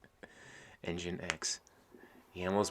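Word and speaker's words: nginx: so i can hit 5j yeah json has pronounced jason engine x the ammo is pronounced the same as pain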